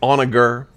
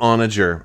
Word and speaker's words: Onager: If you guys haven't, whether you pronounce it Onager or Onager, I call it Onager. But I've heard it called both ways, and I'm going to say it my way.